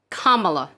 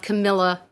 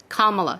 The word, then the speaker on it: Kamala: of mispronouncing her first name her name is pronounced Kamala not Kamala not Camila it's Kamala she's a sitting Senator she's the first woman